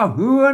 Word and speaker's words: เฮือน: แล้ว นะ ครับเห็น มั้ย ก็ อ่าน ว่า เฮือน นั้น ก็ ไม่ ใช่ เรือ นะ ครับ อ่า เรือ นะ